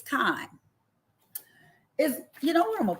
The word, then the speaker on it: chyme: When the chyme or the chyme, I think it's chyme. You know what? I'm going to put it in my pronunciation thing.